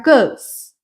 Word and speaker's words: goes: E cuidado também que esse E não é pronunciado. Então, o verbo go aqui, na terceira pessoa, vai ficar goes.